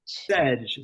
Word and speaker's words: sedge: Sedge. It's like edge with a sedge.